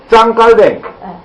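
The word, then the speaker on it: Jean Calvin: 그런데 요한 웨슬리와 휘필드의 생각이 갈라진 것이 있는데 바로 휘필드는 짱 깔뱅. 짱 깔뱅입니다. 짱 깔뱅이라고 하는 요한 칼빈이라고도 하고요, 존 칼빈이라고도 하고요, 존 켈빈이라고도 하고요. 그런데 원 발음은 짱 깔뱅입니다.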